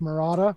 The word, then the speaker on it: Murata: you exposed my secret my last name is actually pronounced morata but i didn't want